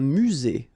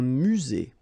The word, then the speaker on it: musée: Un musée. Final not pronounced. Un musée.